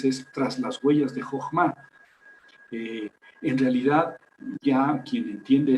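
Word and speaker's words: חכמה: Jochma es la pronunciación correcta de eso que está ahí en hebreo, Jochma. Al final se puede poner una H, pero como es totalmente muda, pues...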